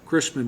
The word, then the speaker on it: Chrisman: replace that and that's is it Christman is that how you pronounce it yes sir Chrisman Road and Claxton area